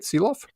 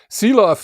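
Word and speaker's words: Silovs: Did I say that right? Siloff? There's a few different pronunciations. You are hitting the most Canadian one, yes. Okay, good enough. Siloff has really proven to me that this kid can play hockey.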